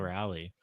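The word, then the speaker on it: Raleigh: Cal Rally.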